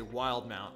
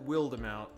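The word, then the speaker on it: Wildemount: you you called it willed amount i think if the way it's spelled the way it's spelled and with the accent right i think you'd call it wild amount weird amount um speaking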